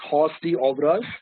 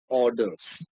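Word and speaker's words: hors d'oeuvres: it's synon is orders it's not pronounced Hy over us it's it's pronounced orders okay so just remember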